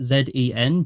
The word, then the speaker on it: Dzyen: It's Zen, pronounced Zen, but it's spelled Dzyen.